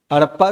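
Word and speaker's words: Harappa: हड़प्पा culture हड़प्पा civilisation हड़प्पा की spelling ये है डी मत लिखना एच ए आर A double P ए ठीक है हरप्पा civilisation is also called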